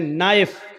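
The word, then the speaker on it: knife: जाएगा जैसे इंग्लिश में नाइफ किसको कहते हैं चाकू को नाइफ के माना चाकू लेकिन के लिखा जाता है बोला नहीं जाता वो साइलेंट रहता है नी मानी घुटना इंग्लिश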